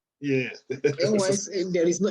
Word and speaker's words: NYCN: It's NYSCN. NYCN. Yeah. NYCN. There is no. You just said S. Now there is no S.